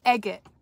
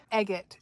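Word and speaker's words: agate: Lana who lives here egot I've been calling it agot egot is how she pronounces the rocks that people are constantly collecting down here it was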